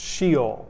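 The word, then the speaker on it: Sheol: realm of the debt it's a word that would be pronounced she'll maybe you've heard of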